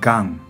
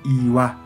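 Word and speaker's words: 岩: Onyomi pronuncia gan, gan. Kunyomi pronuncia iwa, iwa.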